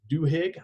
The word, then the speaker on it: Duhigg: This is a 2016 article by Charles Duhigg, I believe is how you say his name.